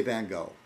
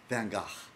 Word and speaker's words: Van Gogh: broke out my van americans say van gogh usually but it's van gaach broke out my van gogh my band i can't i'm not getting it right even but you're supposed to say it like in a dutch accent somebody asked dirk darkseid